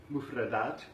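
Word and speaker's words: مفردات: We just have to remember to stretch out that last syllable because the Western tongue wants to cut it short, right?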